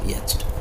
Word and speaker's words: yacht: or traveling for pleasure rhyme with coat यहाँ कह yacht कौन कह yacht 7 YA है CHT yacht है उत्तर हो yacht बुझीपार।